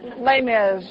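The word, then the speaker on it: Les Mis: Broadway play I have no idea how to pronounce it? Lay miserable. How do you How do you say that? Lay miz.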